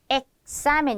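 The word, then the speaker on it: examen: 번째 발음 기역 스이 기역 스는 뭐냐면요 여러분 이겁니다 이런 발음 무슨 얘기냐면 자 여기 시험이란 단어 있죠 에멘이라고지 사멘 이렇게 발음을 해줍니다 앞에다가 엑사멘 이렇게 기억 받침을 주면서 시을 갖고 온다 이런 뜻입니다 자 두 번째 단어도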